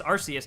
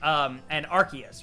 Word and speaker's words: Arceus: That being said, and I still call Arceus Arceus, even though I know that they're both specifically supposed to be called Rayquaza and Arceus, right?